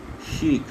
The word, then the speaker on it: chic: Chic, this is pronounced chic, it's not C, it's pronounced S.